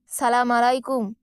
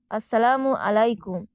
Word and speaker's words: আসসালামু আলাইকুম: ঢোকার সময় সালাম দেওয়া ভুল উচ্চারণ এড়ানো সালাম আলাইকুম নয় আসসালামু আলাইকুম আজ থেকেই অভ্যাস করুন